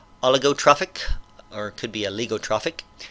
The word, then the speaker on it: oligotrophic: So those would be oligotrophic. I'm going to look up that word, make sure I'm pronouncing it correctly. Oligotrophic, I was pronouncing it right.